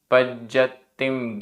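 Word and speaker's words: पज्जत्तिम: गाथा क्रमांक 136 उच्चारण पजत्तिम [गला साफ़ करने की आवाज़] पजत्तिम आधा ज पूरा ज आधा त पूरा त पजत्तिम गिणो आधा ण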